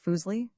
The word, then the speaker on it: Fuseli: Fuseli pronounced foolsi was a neglected figure of the utmost importance.